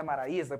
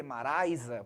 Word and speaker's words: Maraisa: o povo fala maraisa mas não é Maraísa porque se fosse maraisa teria que ter o assento do hiato Então nós não temos assento e você vir que não tem um acento então não posso falar maraisa tem que ser o que maraisa porque ali nós temos um ditongo Mas enfim né enfim